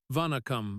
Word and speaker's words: vanakkam: He was no longer the untouchable CEO but a student, stumbling over the word vanakkam as Aisha corrected him with a patient nod. "Push the second syllable," she said, her tone firm but kind.